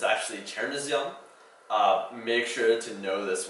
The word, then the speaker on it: chernozem: it's transliterated, it looks like it should be pronounced Chernozem, but it's actually Chernozem.